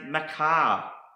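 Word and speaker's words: מחר: Hebrew word morph another Hebrew word is pronoun pronounced Macar and it means tomorrow in time to come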